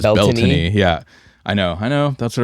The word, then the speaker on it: Beltane: Now the proper Celtic pronunciation is Beltane.